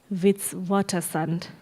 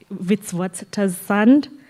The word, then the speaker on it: Witwatersrand: He holds a PhD from the University of Witwatersrand. MJ, did I pronounce that correctly? Yes. So Witwatersrand, Johannesburg, where he was also a research fellow between 2003 and 2007.